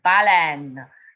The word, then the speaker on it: baleine: And that's spelled B-A-L-A-I-N-E. But in English, you hear bull, N, baleine.